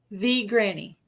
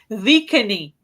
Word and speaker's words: V Granny: the Reluctant V Granny. I know how to say it now, V Granny, because she told me that. I thought it was the Reluctant Vicany, but it's the Reluctant V Granny.